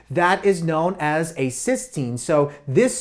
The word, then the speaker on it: cysteine: two cysteine molecules that is known as a cysteine so this spelling and this spelling are not the same so this is pronounced cyen this is pronounced cysteine so we